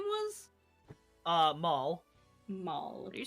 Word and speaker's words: Maul: Maul. Maul. Would you spell that for the notes? I'm gonna say M-A-U-L. Same as the Star Wars character.